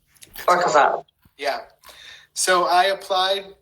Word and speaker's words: Orquevaux: I'm going to mispronounce it. Tell us what it's called and how you got accepted. Chateau Orquevaux. Orquevaux.